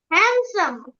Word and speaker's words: handsome: to pronounce this one Handsome. very good Edge. Wednesday. okay এটা দেখো ডি লেটারটা silent থাকবে নির্ঝর D letter should be silent it should be sandwich D letter silent থাকবে don't pronounce this d sandwich স্যান্ডউইচটাকে একটা stress